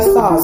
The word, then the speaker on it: SOS: she goes by sauce it was on the radio she goes by sauce but it's spelled SOS so the spiritual part